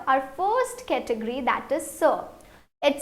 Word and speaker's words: ce: It is set and set, but it is ce. Please repeat, ce, and this is say.